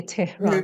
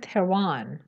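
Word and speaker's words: Tehran: رعایت نمیکنن این هست، شما اگه دارید درباره جاهای، البته تلکابن که شاملش نمیشه، شهرها اینهایی صحبت میکنید، اسمایی میگید که مربوط به کشور خودتون میشه، باید با تلفظ انگلیسی بگید. مثلا ما فارسی زبانیم، داریم درباره خودمون صحبت میکنیم، نه تهران. یه انگلیسی زبان نمیگه تهران، میگن تروان.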